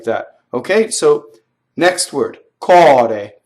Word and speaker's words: core: Okay, so next word, cɔre. So here's an open O.